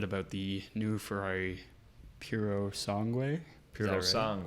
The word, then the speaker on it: Purosangue: Purosangue, right? You have to say it like an Italian.